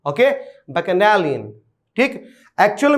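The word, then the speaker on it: bacchanalian: ठीक है, इस शब्द का सही उच्चारण जो होता है वो होता है बैकनैलियन, बैकनैलियन। ओके, बैकनैलियन।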